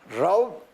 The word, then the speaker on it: Raúl: El señor embajador en Colombia de Palestina, Raúl Al-Malki. Es un nombre rarísimo. ¿Cómo se pronuncia realmente? Raúl Al-Malki. Ah, es Raúl, en última.